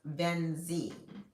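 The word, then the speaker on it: VNX: Um, and it's spelled V N X as in X-ray, I I pronounced Venzie.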